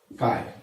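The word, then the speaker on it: χ: ठीक है, ये जो नया वर्ड है इसको बोलते हैं काय। ओके, ये जो ग्रीक सिंबल है ये काय है, इसका प्रोनाउंसिएशन हम काय करते हैं, और ये एग्जैक्टली क्या होता है?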